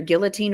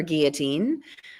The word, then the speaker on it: guillotine: So depending on who taught you how to say this word, it's either guillotine or guillotine.